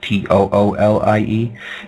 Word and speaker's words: Thule: call themselves the Thule, like Thule, but pronounced Toolie.